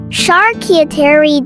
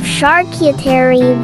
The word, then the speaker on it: charcuterie: called a shark eater the English pronunciation of charcuterie varies slightly from the original French the correct French pronunciation of charcuterie is charcuterie thank you